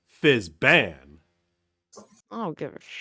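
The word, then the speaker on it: Fizban: Oh, Fizzbin. Yeah. Yeah. It's been... Wait, no, we both said it wrong. Fizzban.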